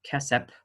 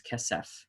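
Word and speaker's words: כֶּסֶף: the soft pronunciation so it's not kessep but it is kesef kessef okay those are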